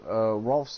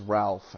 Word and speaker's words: Rolf: My gripes with it is that they said Rolf's name is Ralph, and it's Rolf. That's how you say it. It's Rolf. It's not Ralph.